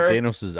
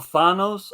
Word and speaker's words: Thanos: Thanos' on-screen kill count.